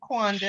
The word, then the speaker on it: Quandus: Is it Quandus? Yes, you pronounced it correctly, Quandus.